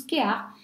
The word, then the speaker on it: Kéap: la marque Kéar, donc ça s'écrit Kéap, hein, mais ça se prononce Kéar, ça signifie le mot